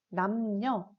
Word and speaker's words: 남녀: 우리가 배운 것 중에 예시를 보면은 남녀, 그리고 선량과 같은 경우에는 각각 니은과 리을이 들어가 있지만 단어의 두음이 아니기 때문에 두음 법칙이 적용되지 않아서 각각 여, 양으로 발음하고 쓰는 게 아니라 려, 량으로 표기하고 발음하게 됩니다.